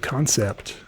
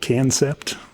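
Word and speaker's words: Kansept: moved on and started concept it's spelled k-a-n-s-e-p-t it's I for years called It Can sept didn't right it was concept it's just doesn't really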